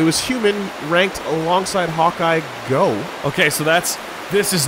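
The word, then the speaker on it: Gogh: is no one's fault that's actually pronounced goth but Vincent Van go I know but the car there are somebody who will later say the phrase goof okay so like cough yeah fine Dark Souls Robin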